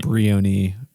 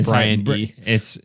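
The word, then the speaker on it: Briony: Who Um Redman uh Brian no Brian Bion b r b r i o n y is how you say it not not Brian if that's how you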